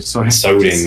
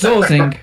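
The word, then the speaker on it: Tsoding: Yeah, he says zozing when he starts his stream.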